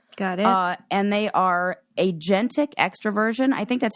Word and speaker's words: agentic: And they are agentic extroversion. I think that's how you pronounce it.